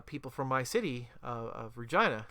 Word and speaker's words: Regina: from my city of Regina the city that rhymes with fun the um they they